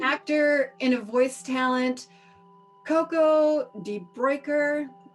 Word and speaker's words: Coco de Bruycker: So, as an actor and a voice talent, Coco de Bruycker rhymes with oyster.